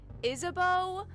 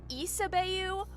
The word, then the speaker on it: Isabeau: So, how they're canonically pronounced is Siffrin, Maribel, Isabeau, Odile, and Boniface is how all of their names are canonically pronounced.